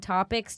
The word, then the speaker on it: TOPIX: Topics with an X. You can't say that anymore. No? No, because people think that it's topics with like an ex-boyfriend. But it's spelled topics with the letter X.